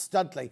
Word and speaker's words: Studley: It's pronounced Studley.